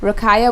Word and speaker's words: Ruqayyah: y a h b o y e r rakaya my full name b o y e